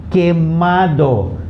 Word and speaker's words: quemado: QUE has a K sound. Okay, and QUI has a key sound. Now please note here there's an exception to the rule of pronouncing each alphabet in the Spanish word. Okay, so QUE will not be pronounced que. Okay, and QUI will not be pronounced qui. Okay, this is an exception to the rule. So it's K and ki.